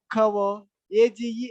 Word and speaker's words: coverage: added to that word cover? AGE added. Even if you add AGE to that, the stress won't change. Still the stress will be on the first syllable.